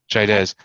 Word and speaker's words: Chaidez: it CH a idea easy how do you pronounce that Chaidez and and so so there's always like two